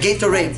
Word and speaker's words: Gatorade: Tam, T-A-M, P as in Papa, O-N-A-D-E. Like Gatorade, name, tamponade or tamponade, okay?